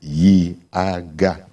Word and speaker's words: IAGA: Now, just in case anybody is wondering, IAGA Africa, IAGA. That's it. 3 syllables.